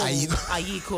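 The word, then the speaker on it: Ayekoo: Everybody said Ghana, Ajiko. Is that how you say it? Ajiko. Ajiko. Ayiko. Right.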